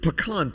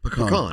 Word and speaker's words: pecan: for saying it correctly. Pecan. I know you live down in South Florida. Pecan.